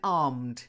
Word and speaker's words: armed: yep perfect and then armed it's a silent E oh that's it like harmed armed it just means they